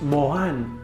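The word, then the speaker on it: מורן: it's a type of flower and it's spelled pronounced mohan in hebrew did you ever freak out when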